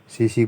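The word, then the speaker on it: tsetse: इसको हम सीसी मक्खी कहते हैं क्योंकि इसमें टी साइलेंट होता है।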